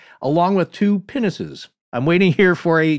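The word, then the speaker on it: pinnace: two penises i'm waiting here for a juvenile joke yeah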